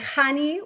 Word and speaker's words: Chanie: And so with all that to say, Hani, welcome to the Love Pod.